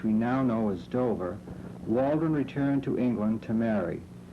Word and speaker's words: Waldron: waldron or waldron as we now pronounce it originally settled at dover